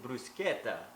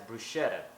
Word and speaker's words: bruschetta: today we'll be making a summertime favorite Italian brusketa not to be mispronounced as brushetta now this recipe was introduced to me by